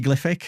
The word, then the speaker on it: Glyphic: So it comes from hieroglyphic and so it should be glyphic but we were saying